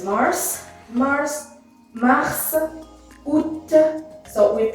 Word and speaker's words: mars: lot about exception here mars is one of the exceptions where we have to pronounce s even though it's at the end of a word and it should be